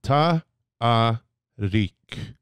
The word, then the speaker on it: Tariq: it absolutely right and it is tah reek reek now what is Tariq